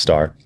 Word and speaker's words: Stoehr: special guest today Diana star even though it looks like store you'll see it in the the description it's pronounced star and you are seriously